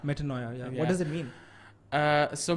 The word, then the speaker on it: Metanoia: And how do you pronounce the name? Metanoia. Metanoia.